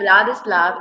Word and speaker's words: Vladislav: in it is awesome and today we have vadis love if I am not you know pronouncing it wrong wonderfully correct how amazing I